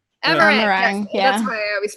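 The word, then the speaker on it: Amh Araeng: Amarang. Amarang.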